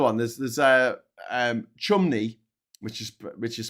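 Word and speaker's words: Cholmondeley: There's there's uh um chumney which is which is spelled chumold tumoldy and St.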